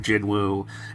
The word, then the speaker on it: Jinwoo: I loved that aspect of Jinwoo, and it's just gone now. But can I clarify? I believe that because again, Korean, the pronunciation is Jinu.